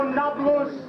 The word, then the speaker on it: Nablus: napolus as in naples the arabs have trouble pronouncing a peat so nakulus became nabulous and if anything we should give it back to the italians now there is no nablus there is there is